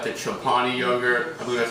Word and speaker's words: Chobani: Even before, when I had like the Chobani yogurt, I believe that's how you pronounce it.